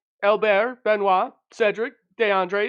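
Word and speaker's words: Benoît: names so it's Albert sorry I was just pronouncing it that way that's good benoa b n oi T yep Cedric and DeAndre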